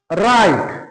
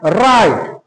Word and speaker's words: write: এই রকম ওয়ার্ডে যে ও ডাব্লিউ আর কি উচ্চারণ দেয়, সেখানে ডাব্লিউ আর কিন্তু র উচ্চারণ দেয়, ডাব্লিউ এর কিন্তু কোনো উচ্চারণ ওখানে হয় না, বিলোপ করানো হয়।